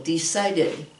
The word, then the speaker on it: decided: You add a syllable. Decided.